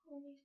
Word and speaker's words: honesty: honesty. 자, H 발음 들어가시면 안 돼요.